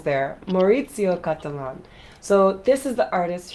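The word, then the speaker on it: Maurizio Cattelan: I was missing a few syllables there. Maurizio Catalan.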